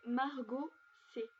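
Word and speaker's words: Maraux C: C'est Margot C. Donc ça s'écrit M-A-R-A-U-X espace C.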